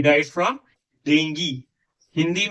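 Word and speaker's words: dengue: हिंदी में बोलिए वह डेंगू से मर गया, ठीक है, ऑल राइट। जब इंग्लिश में बोल रहे हैं तो से डेंगी नॉट डेंगू, तब कृपया डेंगू मत प्रोनाउंस करिए, उसको डेंगी प्रोनाउंस करिए।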